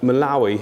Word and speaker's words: Malawi: said if we're going to be doing like Malawi here yeah is that how you say it